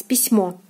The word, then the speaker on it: письмо: So we know that O here is stressed. So the word is pronounced as письмо, письмо, письмо. And O is stressed here and is pronounced as in the alphabet as O. The translation of this word is letter.